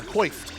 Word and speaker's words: coiffed: It's freshly coifed. Oh yeah. Coiffed.